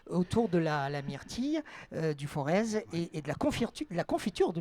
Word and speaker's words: Forez: Auvergne, on dit le Forez. Ah oui, c'est parce que voilà. j'ai prononcé la différence, le Z. Voilà, le Z ne se prononce pas.